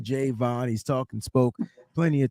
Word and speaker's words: Javon: be mad cause I gotta correct you it's J Vaughn because he said that's how he pronounced his name okay I'm just saying hey you know and I'm hearing people say Giovanna and I'm like did you not hear him